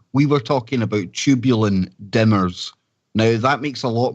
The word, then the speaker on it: dimers: of misunderstanding but as dimers that were saying there isn't it yeah literally pronounced like a dime because it only has one M and I was mispronouncing it for the longest time because all I was